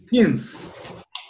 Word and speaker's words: since: Since. Since. Since. Isso mesmo, pronunciando a letra N, então é since.